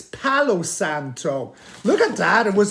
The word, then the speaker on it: Palo Santo: memory it is called Palo salop panto am I saying it right no I'm not it's Palo Santo look at that it